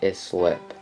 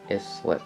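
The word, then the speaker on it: Islip: out to long island is slip is slip yeah that's how you pronounce it moving on to the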